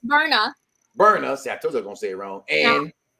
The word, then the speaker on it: Berna: Because we go down against Brenna. I can't pronounce her name. I keep getting mad. I'm not gonna say it wrong. It's Berna.